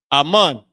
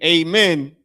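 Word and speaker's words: אמן: Ammon. So when people say amen, they're they're mispronouncing the word ammon or saying it in a uh saying it in what? English.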